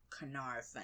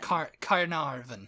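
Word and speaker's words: Caernarfon: people who because it's it's not spell the way it sounds c a e r n a r f o n Carvin Carvin carar Carin Carvin there it was number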